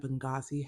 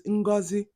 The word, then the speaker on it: Ngozi: Okay, y'all, like as an Igbo, that pronunciation of Ngozi had me cringing. Like I was like, Ngozi, is that Igbo? Like I was shook because if whenever I hear it from family and friends, it's Ngozi.